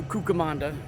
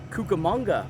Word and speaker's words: Cucamonga: for the third year sophomore out of Rancho cucamanda Cucamonga Cucamonga California if I could say it right